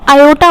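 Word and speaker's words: aorta: इसको आयोटा पढ़ते हैं, ठीक है। यहाँ पर आर साइलेंट है।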